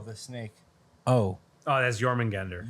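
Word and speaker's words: Jörmungandr: Jormungandr. Yeah, Yggdrasil is the world tree. Yeah, I know. Jormungandr. Jormungandr. J is Y. What? Nothing. Because it's spelled with a J, like Oh. instead of a Y sound.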